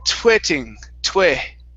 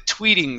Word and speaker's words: tweeting: was a little off you had said twitting okay so give me a long e here so following the tweeting sound tweeting tweeting following the twitter sound almost so give me a little bit more e twee tweeting reading tweeting